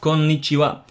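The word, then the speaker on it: こんにちは: You have to try to lengthen the N's a little bit because there are two N's after each other right there. So you have konnichiwa. Try to pronounce the N sound rather vigorously.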